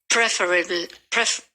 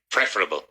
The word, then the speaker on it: preferable: Preferable. Now, here the emphasis is on the middle syllable. Preferable. First syllable.